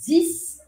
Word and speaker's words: dix: precisa saber que 10, o número 10, se escreve com X no final. E que se a próxima palavra começar com uma consoante, você não pronuncia esse X. E aí você fala 10%, 10%, 10%.